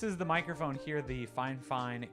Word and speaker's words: FIFINE: She literally typed it out like I know that it looks like fifine, but it's pronounced fine fine.